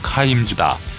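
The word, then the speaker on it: Kimes: 즈 가 그 주인공이다 한국에서는 킴 s 로 알려져 있으나 정확한 영어 발음은 카임 주다 그의 이름 민아 에서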